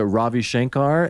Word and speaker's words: Ravi Shankar: But is it Ravi Shankar and Ala Raka? Beautiful. Nice.